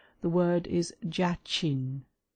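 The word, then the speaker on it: Jachin: in the former degree either by letters or syllables. The word is jain.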